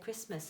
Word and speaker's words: Christmas: us tend to say christmas so we're not actually pronouncing that letter t so that's your one